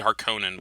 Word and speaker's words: Harkonnen: It's supposed to be Harkonnen, but I've pronounced it as Harkonnen for so long that it just comes like that sometimes.